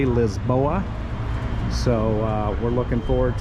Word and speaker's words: Lisboa: Uh we're going to take you through the neighborhood and we're going to explore uh all of Lisbon or as the locals say Lisboa.